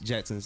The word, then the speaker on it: Jetsonz: is that how you pronounce Jetsonz? Jetsonz, yeah. Jetzon? S-O-N-Z. S-O-N. S-O-N-Z. Yes.